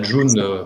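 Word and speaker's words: Ğ1: Alors la June, pour ceux qui ne connaissent pas, c'est la G1, ça se prononce June, c'est une monnaie qui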